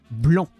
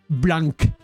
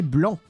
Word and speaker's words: blanc: In French, on that word, you do not pronounce the C. You say blanc. You do not say blanc.